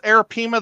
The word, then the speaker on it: arapaima: are arapima okay yeah now it's arapima the correct way to say it because I always say arapaima well the the uh the Spanish word because I is an e sound would be arapima we've got several of